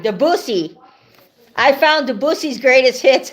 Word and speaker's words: Debussy: Rhymes with Fanny. That's right, Debussy.